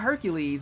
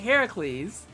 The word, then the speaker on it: Heracles: always said it wrong people were like no it's not Hercules it's like Heracles nothing really currently but